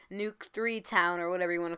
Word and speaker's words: Nuk3town: by the way guys nuke town is actually pronounced with a three not a e nuke 3 town or whatever you want